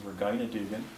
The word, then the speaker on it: Regina Dugan: Here's Regina, or also known as, actually I think the correct pronunciation is Regina Dugan.